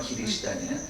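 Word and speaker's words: キリシタン: 각굴의 기리시단은 크리스찬이에요. 일본 발음은 기리시단이에요.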